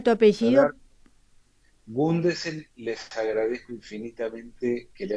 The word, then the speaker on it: Gundesen: Y siempre me lo pronuncian Gundensen, se agrega una N.